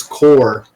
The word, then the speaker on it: corps: a French word and we don't pronounce the p and the S so it's just c-o-r